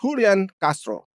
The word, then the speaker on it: Julian Castro: and that is from Julian Castro which I guess you would pronounce hooli and Castro and Julian Castro is one of the